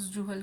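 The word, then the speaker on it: Suhl: यह वहां ये स्पेलिंग में एस है पर इसे प्रोनाउंस जूहल करा जाएगा।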